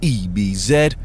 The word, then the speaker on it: Ebbs: abused on the internet Ebenezer or Ebbs pronounce ebz is a dark-skinned man